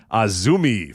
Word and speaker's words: AZM: Yes, it's spelled AZM, but it's Azumi.